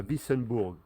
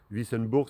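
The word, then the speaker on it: Wissembourg: descendrait sur 47 km pour se rendre à vissenburg vissenburg ça s'écrit W i s B o u R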